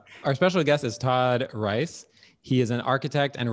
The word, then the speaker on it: Reisz: say your last name i grew up reese but it's a mispronunciate mispronunciation of rice okay so i'll say it again um so uh our special guest is todd rice he is an architect